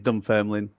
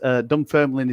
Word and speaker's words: Dunfermline: It is Dunfermline. It is Scotland. Dunfermline. Okay, Dunfermline. Dunfermline. The extra syllables.